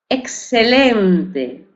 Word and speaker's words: excelente: Excelente. Aquí conserva el sonido KS, KS, excelente, excelente, con X.